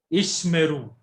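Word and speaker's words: ישמרו: Ishmeru. Ishmaru. Ishmeru. Now, Ishmeru. now see, the first Shiva is silent. Rule is that first Shiva is silent and second Shiva is vocal.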